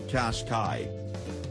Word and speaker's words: Qashqai: And for help pronouncing the name, Qashqai sounds like Qashqai.